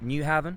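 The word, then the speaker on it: Nyhavn: head to an area called nyhaven i think you pronounce it new haven it's along this river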